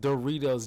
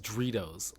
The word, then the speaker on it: Doritos: I hate it when he pronounced Doritos Doritos. Like, it's D O R, not D R O.